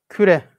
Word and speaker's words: küre: Ettiği ve kainatı ve küreleri ve küre. Evet. Kerre ile karıştırmayalım. Kürre diye bazen kürre tarzında okunabiliyor veya telaffuz edilebiliyor. Aslında ne? Küre.